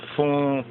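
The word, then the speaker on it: Funnye: Funye Jr., pronounced Fune, born in 1952, so he was like 2 years old when His Majesty came to visited America in that 54, is an African American ... It says Fune, right, pronounced, that's what they say, pronounced Fune,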